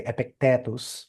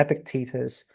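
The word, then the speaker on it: Epictetus: So so that's why um epicus or in in Latin you say epictatus, right? So I'm I'm I'm swinging between those two pronunciation. So ep let's say it in English uh in English accent. So Epictitus and Marcus Aurelius are the biggest guns with stoicism.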